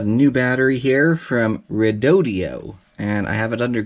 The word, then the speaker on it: Redodo: 1 we've got a new battery here from rodio and I have it under good authority that that is how you pronounce it is their company rep provided a